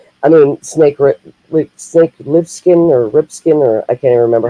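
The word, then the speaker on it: Plissken: To some, I mean, Snake Lipskin or Ripskin, or I can't even remember how you say it. Lipskin.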